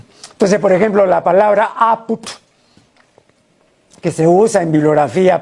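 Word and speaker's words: ápud: Entonces, si ven apud sin tilde, van a pronunciar apud. ¿Por qué? Por la ley de la analogía, porque como ellos dicen, nosotros decimos salud, entonces esto de acá también será pues así, apud. ¿no? Y no van a pronunciar nunca apt.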